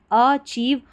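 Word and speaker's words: achieve: और ये जो स्पेलिंग है CHIEVE, इसको चीव पढ़ा जाता है। एक साथ पढ़ना है, हमेशा के लिए याद रखें, इसको चीव करके पढ़ना है, अचीव।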